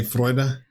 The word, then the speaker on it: Freude: Freude. They were telling me how to say Freude at the end. Oh, okay. They said it was like O-I. Freude.